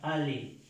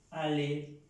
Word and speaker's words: aller: El verbo ir, que se pronuncia y se escribe ayer con doble L y se pronuncia ale, ale.